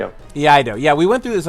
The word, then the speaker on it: Iaido: Iaido.